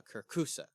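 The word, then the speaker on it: kirkhusa: going on and there's this creature called a Kusa that's how you say it okay Kusa Kusa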